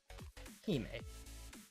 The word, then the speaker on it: Hime: Hime. It's Captain... Okay, that's how I was told it's pronounced.